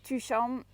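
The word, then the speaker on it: Tuchan: it like that because that's how i say to pronounce it is number two two and then sean like the sun is shining here so it's been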